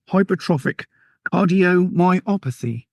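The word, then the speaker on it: hypertrophic cardiomyopathy: Bethany has a condition, and I'm going to try and pronounce this now, called Hypertropic Cardiomyopathy.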